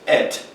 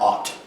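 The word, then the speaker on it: את: Et, that's how it's pronounced. Et or Ot. You think like A-T.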